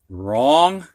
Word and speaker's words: wrong: Now we're going to have words with a silent W. And these W's are followed by an R. You can hear the R, but not the W.